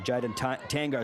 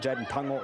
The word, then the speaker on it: Jaden Tungo: I believe I may have even called you Jaden Tango, so apologies for that. Jaden Tungo is the correct pronunciation there as the North breakaway here.